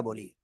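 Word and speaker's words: ب: উচ্চারিত হবে আগে সেটা বলি। এই যে দুই ঠোঁট, দুই ঠোঁটের ভিতরের অংশ, ভিজা অংশ থেকে আমরা উচ্চারণ করব। বা এক আলিফ টান হবে, কয় আলিফ?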